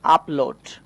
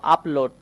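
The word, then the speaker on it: upload: খেয়াল করো আপলোড। তো আমরা ইউ পেয়েছি ঠিকই। কিন্তু তারপর দেখো পরপর দুইটা কনসোনেন্ট চলে এসেছে। পি এবং এল। তো দুইটা কনসোনেন্ট আসার কারণে আমরা ইউ কে আ এর মত উচ্চারণ করব।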